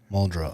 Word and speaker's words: Muldrow: do you spell that m-u-l-d-r-o-w muldra okay glacier mole drill so um and so